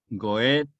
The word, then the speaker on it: Goethe: Goethe. Goethe. Que se pronuncia, si quieren pronunciarla en genuino alemán, pues la OE suena entre O y E. Es un sonido ambiguo que nosotros no tenemos.